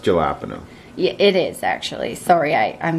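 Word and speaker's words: jalapeño: It's pronounced jalapeno.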